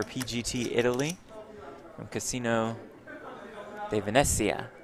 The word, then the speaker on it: Venezia: Italy from Casino de Venezia. Is that good pronunciation? Italian pronunciation? Probably I think not. so, yeah. You nailed it, Jeff. It rolls right off the tongue for you. Venezia. That's much better.